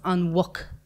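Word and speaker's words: an mhuc: So muck, when you say, is a pig, and then when you say the pig, it becomes on wuck.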